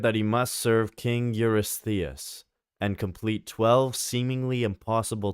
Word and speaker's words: Eurystheus: How do we pronounce it? King Eurystheus. Eurystheus.